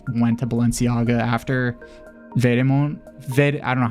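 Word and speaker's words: Vetements: I always called it Vediments, but then somebody's like, that's not how you pronounce it. It's Vedemont. They got really into like,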